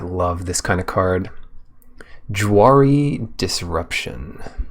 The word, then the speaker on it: Jwari Disruption: Jwari Disruption. The J is silent. Wary Disruption.